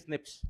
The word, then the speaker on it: SNP: polymorphisms uh they also the pronunciation is Snips rather than SNP so chromosomal abnormalities single